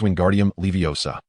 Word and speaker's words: Wingardium Leviosa: Secondly, remember to pronounce the spell as Wingardium leviosa. The gar should be elongated and clear. Samuel repeated, "Wingardium leviosa."